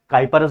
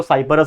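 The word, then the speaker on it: Cyperus: है साइप्रस ठीक है काइपर अस भी कुछ लोग बोलते हैं प्रोनंसिएशन डजन मैटर लेकिन स्पेलिंग याद रख लेना सी वाई पी ई आर यू एस तो काइपर अस बोल लो साइपर अस बोल लो लेकिन ये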